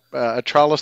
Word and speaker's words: Attralus: Now with atrus sorry go ahead nope nope atrus Therapeutics thank you I was going to ask what is the right pronunciation because some of these are a little